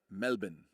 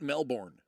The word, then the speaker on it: Melbourne: Because I had somebody that was from uh, Melbourne, Melbourne. The first thing he ever corrected me was how to pronounce Melbourne. It's not Melbourne.